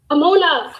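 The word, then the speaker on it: אמונה: Amuna. Amuna. See, I know she would know it because it sounds like amuna. Mona's in it, right?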